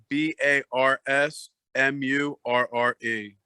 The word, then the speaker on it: B.A.R.S. Murre: All one word, at B.A.R.S. M-U-R-R-E. Looks like Bars Murre, but it's pronounced Bars Murre.